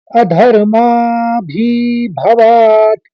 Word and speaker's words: अधर्माभिभवात्: अधर्माभिभवात् कृष्ण प्रदुष्यन्ति कुलस्त्रयः स्त्रीषु दुष्टासु वार्ष्णेय जायते वर्णसंकरः।